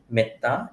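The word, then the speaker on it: metta: you ever heard about the concept in Buddhism called meta m a t m TTA long a meta means loving kindness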